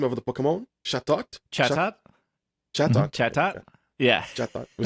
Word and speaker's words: Chatot: How do you pronounce the name of the Pokemon? Chatot? Chatot? Chatot. Chatot? Yeah. Chatot. We say Chateau here.